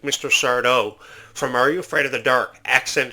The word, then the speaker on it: Sardo: Sardo from Are You Afraid of the Dark? Accent on the dough.